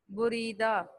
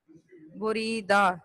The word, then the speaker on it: بریدہ: بریدہ، بے کے اوپر پیش، رے کے نیچے زیر، بریدہ، دال کے اوپر زبر، بریدہ.